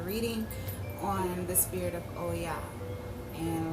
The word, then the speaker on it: Oya: Okay, so if you watched the previous video, I said that I was going to do a reading on the spirit of Oya.